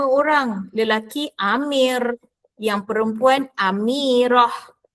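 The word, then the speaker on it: أميرة: Sama jugalah nama orang lelaki Amir yang perempuan Amirah. Ejaannya ialah ta marbutah. Ejaannya ialah double T. underline yang a double T yang bergaris bawah. Awak tak sebut amirat ustazah.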